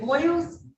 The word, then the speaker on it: Boyles: you ready on oh Boyles is it boils yes we're ready am I